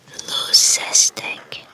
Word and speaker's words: leucistic: I'm sure that's not how you pronounce it. Let's figure that out. I think it means white. There are two types. You're either the albino and the loose. Let's see how to pronounce. So it's apparently pronounced leucistic.